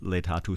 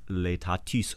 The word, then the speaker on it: laetatus: Instead of laetatus sum in Latin, in church Latin, Roman Latin, it's laetatis sum in French Latin, for instance.